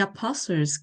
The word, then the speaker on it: Apostle: The Apostles' Creed. The Apostles' Creed. 여기 T는 묵음입니다.